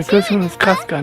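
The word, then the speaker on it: Chasca: That Chaska pronunciation is a little weird. You're invited Oh, too, this one was Aneva. Casca, not Chaska.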